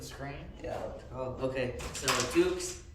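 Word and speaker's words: dux: yeah oh okay so Dukes is spelled d-u-x so d u s so we know Duke's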